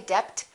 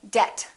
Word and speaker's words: debt: Let's start with the silent B. Bomb, climb. We don't say climb, we say climb. Debt. Don't say debt, say debt.